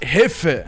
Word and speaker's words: Jefe: Kankas, Motive ve Hefe, Yefe değil, geçen yanlış söyledim, Hefe, Yefe yazılıyor ama Hefe okunuyor.